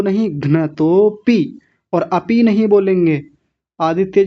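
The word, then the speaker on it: घ्नतोऽपि: घ्नतोपी, अपी नहीं, घ्नतोपी।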